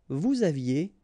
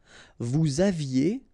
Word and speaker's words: vous aviez: Vous aviez, EZ at the end, et aviez, and then liaison. Vous aviez.